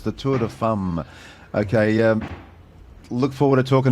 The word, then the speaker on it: Tour de Femmes: I might get Gabriel Gartet back on, perhaps he can give us a correct pronunciation. It's the Tour de Femmes.